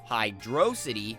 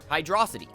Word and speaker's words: Hydrocity: t y obviously city where the discrepancies show up though is in the pronunciation of that pesky second syllable d r o hydrosity or hydrosity after doing some research